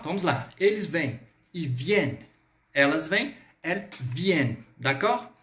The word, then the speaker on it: viennent: Então, se liga na pronúncia. Ils viennent, tá? Bem sutil, vamos lá, façamos juntos. Ils viennent. Viennent.